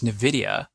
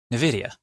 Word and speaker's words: Nvidia: Nvidia. That's not how you say that. How do you say it? Nvidia. Nvidia? Nvidia. Nvidia. Yeah. Nvidia. It's like Nevada.